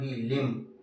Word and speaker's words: limb: इसके बाद मैं आपको बोलूं LIMB, लिम्ब, कौन सा साइलेंट है।